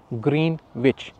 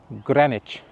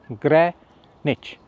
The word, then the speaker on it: Greenwich: वो यह है कि हम इसको प्रोनाउंस करते हैं ग्रीन विच जो कि बिल्कुल गलत है। इसको ग्रीनविच नहीं कहते। इसको कहते हैं ग्रेनेच। ग्रेनेच।